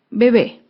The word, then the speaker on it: bebé: ejemplo es la palabra bebé bebé es una palabra aguda se acentúa en la última sílaba y lleva tilde porque termina en vocal bebé acá vemos otro